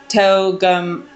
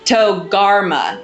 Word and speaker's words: Togarmah: And then, we have some versions will say it like the land of Togarmah, and or sorry, Togum I'm sorry. This word always trips up my tongue. Togarmah, Togarmah.